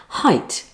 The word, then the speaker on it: height: To help, many YouTube channels highlight the words that students get wrong, like height with its silent E, or fruit with its silent I, or subtle with its silent B.